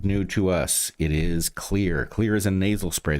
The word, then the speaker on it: Xlear: It's Xlear. That's Xlear, pronounced clear.